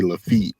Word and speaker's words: Lafayette: We call it Lafayette, but I know some people from New Orleans. They say Lafitte because I guess like it's like a French name.